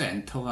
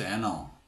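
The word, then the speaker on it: Enter: 그래서 이제 아주 곤혹스러웠는데, 나중에 알고 보니까 이제 프레스 엔터가 아니라 프레스 에너, 이렇게 약간 미국식 발음으로 엔터를 눌러줘야 했었는데, 엔터는 안 먹고 에너 이렇게 해야지 먹는 거죠.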